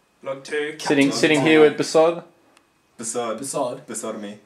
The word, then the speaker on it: BASOD: Sitting here with Basod. Basod. Basod me. Pronounce it properly. Please say it properly. Basod. Basod. You've got the wrong emphasis, Trent.